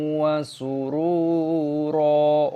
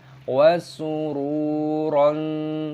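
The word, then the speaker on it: وَسُرُورًا: Cara membacanya adalah * wasururo*. Bukan *wasuron*. Seperti itu.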